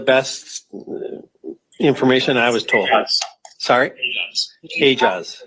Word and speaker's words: Aejaz: Do we have a correct pronunciation of his name? That's the best information I was told. Aejaz. Sorry? Aejaz. Oumair Aejaz.